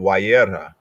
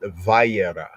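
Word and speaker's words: וַיֵּרָא: and feeding, and also previously in Wayera, that other Yehudim call it Vayera. The difference in the pronunciations is because the mother.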